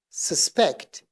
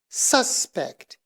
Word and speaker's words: suspect: Now here, I would like you to pay attention to the pronunciation of the verb and the pronunciation of the noun. The verb is suspect, suspect. But the noun is suspect, suspect.